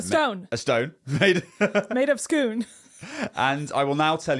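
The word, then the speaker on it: Scone: thanks it to clarify it is pronounced schoon but it is spelled s-c-o-n-e that is correct okay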